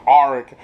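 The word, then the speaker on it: Arryk: her name right is because arik sounds like R for pirates so that's how I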